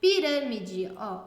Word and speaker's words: pirâmide: som eu ia proparoxítona é quando a antepenúltima sílaba é a tônica é a mais forte exemplo pirâmide uram é mais forte o de é a